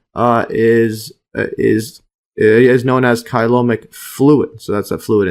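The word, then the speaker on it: coelomic: yeah occur to occur respir let's see the pronunciation here reciprocally or reciprocally or together while the uh colomic fluid kyomic or kyomic fluid serves as a hydroskeleton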